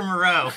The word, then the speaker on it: Moreau: would say his name dr moreau it's dr moreau dr moreau yes uh crossing over from the